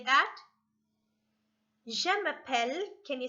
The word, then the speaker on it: je m'appelle: name is and it's said as je m'appelle jamappelle can you say that je m'appelle can you say your